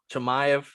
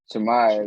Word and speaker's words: Chimaev: But how you pronounce his name? Chimaev. Chimaev, yeah.